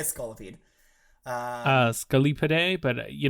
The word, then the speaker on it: Scolipede: the lessons my favorite Pokemon are Psyduck and Scolipede that's a Pokemon scolopes is that for some I thinking it's supposed to be scolia pod maybe I'm WR that doesn't sound real yes